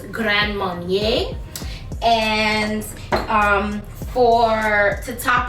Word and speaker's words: Grand Marnier: using some grand marnier i like to call it grand marina but that's not the way you pronounce it it's grand marnier and um for to